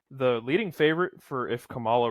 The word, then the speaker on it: Kamala: And now he's neck and neck with Kamala Harris. Kamala. I don't think he is. Kamala. I got corrected for saying it wrong earlier, and now I don't care.